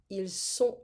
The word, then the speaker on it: ils sont: Ils sont, elles sont. It's a very important pronunciation here. Ils sont, elles sont. Because otherwise, if we don't say that, we're going to have ils ont.